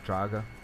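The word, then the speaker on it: draugr: guys are locking up draga that is how you pronounce right this is a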